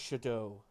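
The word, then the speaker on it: Shadoe: creative how would book Shadow it's it's it's pronounced Shadow Shad s h a d o e okay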